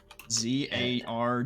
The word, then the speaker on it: Zarwaan: Zarwan. Zarwaan. W-A-A-N.